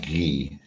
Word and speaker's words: Guy: by the way my my name is actually French not to cut in but yeah it should be pronounced ghee yes uh I think